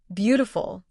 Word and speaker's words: beautiful: Try saying, beautiful. The stress is at the beginning.